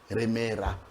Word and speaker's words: Remera: Comme elle ne prononce pas elle, ils le disent toujours Remera.